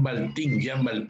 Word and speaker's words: Baltin: Tuvieses cómo Europa logró avanzar desde cuando Jean Baltin, se pronuncia B chica A-L-T-I-N, escribió La noche quedó atrás.